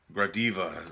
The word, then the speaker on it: Gradiva: This one is the one I haven't watched yet, and that's Gradiva. That's how you pronounce that.